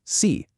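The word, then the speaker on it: 四: In Mandarin Chinese, the word for 4 is pronounced si.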